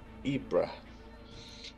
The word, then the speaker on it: Ypres: That's how you pronounce it. Ypres.